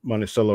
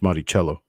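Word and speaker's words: Monticello: large mint mark above the Dome of the monello or monello on the back I did learn that it's actually pronounced monello I've been calling it monell all my life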